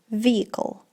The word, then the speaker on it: vehicle: um vehicle vehicle uh transport Transportation vehicle vehicle Vehicles silent E you should say vehicle vehicle okay this vehicle needs to be repaired